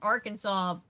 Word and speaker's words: Arkansas: Right, and it's like, try explaining why we say, like, why Arkansas is pronounced Arkansas, but Kansas is pronounced Kansas. It makes no sense.